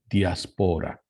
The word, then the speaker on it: diaspora: The way to pronounce it is diaspora.